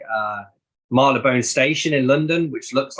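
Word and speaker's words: Marylebone: other one is like we have like uh Marla bone Station in London which looks like it should be pronounced Mary Le bone but it's marlabone um there's there's in Oxford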